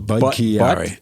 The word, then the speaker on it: Budd-Chiari: More syllables. Budd-Chiari.